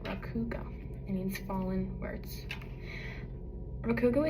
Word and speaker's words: Rakugo: Table of contents and rau, this is how you pronounce it, raugo.